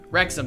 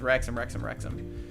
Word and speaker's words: Wrexham: I forget how to say it because you have to say it. Wrexham, that's what it is. Wrexham.